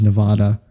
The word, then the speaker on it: Nevada: but it is pronounced Nevada. So it is pronounced Nevada. I don't know who told you it's pronounced Nevada and why Aaron you did of Game think Grumps.